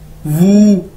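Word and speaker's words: wu: उसके बाद हमारे पास डब्ल्यू यू वू, ठीक है, वू, इसको ऐसे प्रोनाउंस करेंगे, और मतलब है फाइव यानी पांच।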